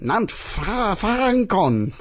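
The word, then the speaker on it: Nant Ffrancon: The North Wales mountain pass at Nant Francon. That's my pronunciation there.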